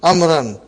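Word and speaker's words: عمرو: Haza kitabu amrin. Waw is still written. Are you with me? It's not pronounced.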